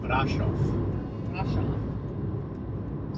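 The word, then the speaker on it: Bran: on our way to brof I keep saying it wrong off brof brof so we had a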